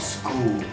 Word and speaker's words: school: My name's and I'm talking about school. The first thing fishy about school is the spelling. It's pronounced school like S-K-O-O-L, but spelled school with an H. The H is silent.